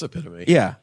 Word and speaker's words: epitome: It's epitome.